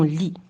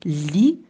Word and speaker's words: lit: Et dans le mot lit, je n'entends pas la lettre T.